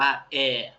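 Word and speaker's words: エア: ตัว แรก นะ ครับ อ่าน ว่า แอ แอ เอ้ย เหมือน แอร์ ภาษา ไทย เลย ใช่ ครับ แอ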